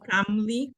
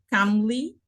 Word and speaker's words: calmly: calmly, la L Yes. es silenciosa, calmly, la primera L es silenciosa.